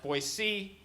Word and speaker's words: Boise: work there they're like actually it's pronounced Boise its Boise and I'm like alright